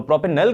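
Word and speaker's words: propanal: ठीक है, और इसमें ओल की आवाज आनी चाहिए। जब हम ओल कहते हैं तो अल्कोहल होती है, अल कहते हैं तो एल्डिहाइड होती है। तो प्रोपेनल को हमने बनाना है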